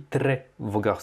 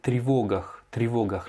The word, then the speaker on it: тревогах: Tu as dit тревогах, c'est тревогах. L'accentuation sur le O.